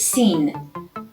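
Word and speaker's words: سین: next and following letter the fifteenth letter is sin which is pronounced like sing in english and at the beginning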